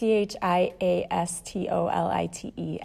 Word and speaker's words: chiastolite: And I don't know how to pronounce this one, and I've never used it, but it's, I think, chiastolite. It's chiastolite, and it's a protective stone.